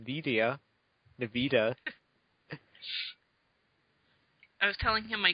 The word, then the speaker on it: NVIDIA: Hey, I was nice to you last week, too, until you started saying Nvidia. I was telling him my computer specs, and my graphics card is NVIDIA or something like that.